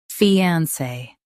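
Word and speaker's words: fiancé: Fiance. Say fe then on and finish with say.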